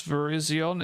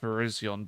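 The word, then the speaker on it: Virizion: Oh Cuz the way I pronounce Verizion is ver I pronounce it like that. Verizion.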